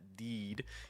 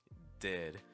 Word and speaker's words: did: So again, it's not deed, it's did.